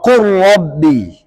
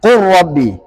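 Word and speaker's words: قل رب: Kemudian lam kara qurrabbi. Nah, qurrabbi. Nah, ini menurut Imam Ibnu Jazari merupakan idgham mutaqaribain.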